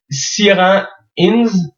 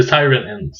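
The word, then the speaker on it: Ciarán Hinds: Zacharie Kinto et là je j'essaie de bien le prononcer Siran Ins c'est Siren In merci mon anglais C'est principalement les acteurs principa sont pas super connus.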